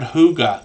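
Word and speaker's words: hygge: one yet but it talks about the word Huga so I've known them a long time so it's pronounced h o o g a Huga but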